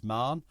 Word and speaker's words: Mahon: leftenant General sban Mahon whose name I can't pronounce I'm told it's manah but there you go